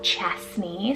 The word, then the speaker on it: Chesney: So we have Chesney, spelled C-H-E-S-N-E-Y, Chesney.